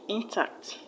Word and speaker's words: intact: Just because it's not a noun, it will not have it stress on the first syllable, but on the second syllable.